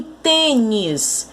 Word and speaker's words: tênis: Em tênis, a sílaba tônica é o tem.